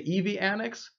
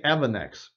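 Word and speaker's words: EVANNEX: Originally, it was called EV Annex, and then a lot of people like myself started pronouncing it Evanex, and I guess they kind of give in and said, okay, sure, Evanex. And so there's no wrong way of pronouncing it.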